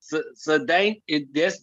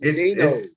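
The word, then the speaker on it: Cedeño: Sadano. That's how you pronounce it? Sadano? Sadano. It ain't no A in it. I thought it was Sadino. It's Spanish, bro.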